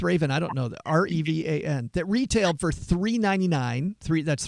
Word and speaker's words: Revan: for Star Wars Darth Raven. I think I mispronounced. It's Revan.